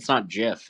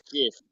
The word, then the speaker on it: GIF: Did you just say GIF? Do you pronounce God Jod? What? It's not GIF.